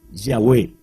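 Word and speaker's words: Yahweh: se define como yista nuestra pronunciación de este nombre pues por lógica es yahwe que es una de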